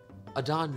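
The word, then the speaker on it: Adan: Adon knows where I live. Adon is the name in the front. Okay. All right. A-D-A-N. A-D-A-N. Thank you. Short for Dan, Adonis.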